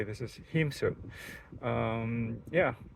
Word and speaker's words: Hēmsut: I believe it's pronounced Hēmsut. Correct me if I'm wrong, but that's when I looked it up with a line, like straight line over an E like that. I believe it pronounced it as a long E, sound like E, double E.